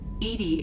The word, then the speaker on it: EDI: are you named Edie Edie is the phonetic pronunciation of e di that is an acronym